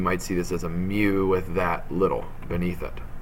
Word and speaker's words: mu: All right, that's what it's pronounced as, mu.